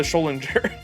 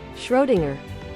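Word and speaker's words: Schrödinger: Life of the Scholinger. Caloriefree life. Oh, life is shenan. How do you say that? Schrodinger. Schrodinger. I always wanted to like insert an L into his name.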